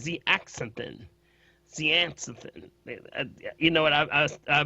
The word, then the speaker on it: zeaxanthin: And the other one is called zeaxanthin.